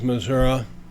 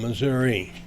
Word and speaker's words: Missouri: I first have to compliment you on pronouncing the name of my state correctly. It is Missouri, as opposed to Yankees that call it Missouri.